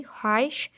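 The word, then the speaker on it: خواہش: काफ वाव हमज़ा छोटी ये, साबर अपनी कोई ख्वाहिश, हे ज़बर वाव अलिफ हे शीन, ख्वाहिश बताओ, बे ज़बर ते अलिफ वाव बताओ, साबर अपनी कोई ख्वाहिश बताओ।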